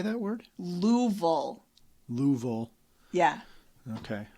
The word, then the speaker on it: Louisville: you say that word louville Louisville yeah yeah okay there's a whole lot more letters in there than are pronounced I'll never get used